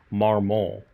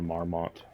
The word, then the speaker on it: Marmont: Because he pronounced it Marmont in this video up here. And then Diana is like, my name's Diana Marmont. Like a very pronounced T.